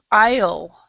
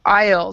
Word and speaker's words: aisle: on this word is isle so we do not say the s at all so aisle does anybody know would